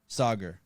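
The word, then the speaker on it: Saagar: go back to sega for a second we pronounced his name for me the guy from breaking point sauger sauger yes sauger so um is soccer like so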